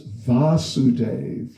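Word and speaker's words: Vāsudeva: is length and so the father's vasudev with a short a and Krishna is vasudev with a long day so there you go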